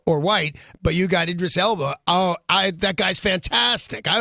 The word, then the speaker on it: Idris Elba: "My name is Elba, Idris Elba." Oh, he's doing it then, right? Two Sounds like things. it. One, he's doing it. And two, he's showing us how to pronounce his name.